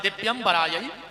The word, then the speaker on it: दिव्यंबराय: शुद्ध उच्चारण है दिव्यंबराय च दिगंबराय, और आदमी जल्दी जल्दी में बोलते है दिगंबराय च दिगंबराय, दोनों बार दिगंबर दिगंबर कहता है।